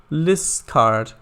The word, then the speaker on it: Liscard: Liscard is pronounced Liscard. Oh, Liscard.